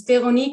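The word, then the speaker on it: Veroniek: So it's Veronique at. Now that name needs some pronunciation. I'm Dutch, so it's the French Veronique, but then written in a Dutch way.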